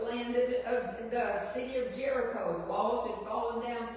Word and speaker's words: Jericho: They had took the land of the city of Jericho.